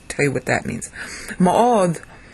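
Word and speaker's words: מאד: Me'od, when the D doesn't have a dagesh in it, you have to say it like DTH, so it's me'od.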